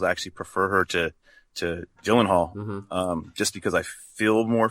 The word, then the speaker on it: Gyllenhaal: I actually prefer her to Gyllenhaal, just because I feel more for her.